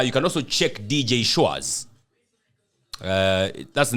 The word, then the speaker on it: Schwaz: You can also check DJ Shores. That's the name, right? Yes. The people who don't know how it's spelled, would you It's spell?